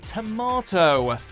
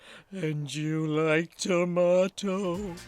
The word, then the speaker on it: tomato: feelings right number 10 tomato this fruits can cause more confusion than you think you like tomato tomahto the two ways to say tomahto are one of the most prominent differences thanks in part